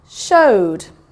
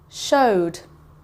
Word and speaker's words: showed: Showed. Showed. If you can hear, there's a d sound at the end, so it goes over here.